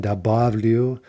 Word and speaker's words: добавлю: Добавлю, but stress is on the stem.